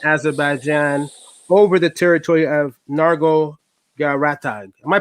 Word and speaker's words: Nagorno-Karabakh: between Armenia and Azerbaijan over the territory of Nagorno-Karabakh. Am I pronouncing it right? Yeah, but it's okay. Nagorno-Karabakh. You can try that. It's Nagorno-Karabakh.